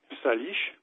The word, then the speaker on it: Salish: Sur ce vaste territoire, on trouve des Indiens Salish, ça s'écrit S-A-L-I-S-H.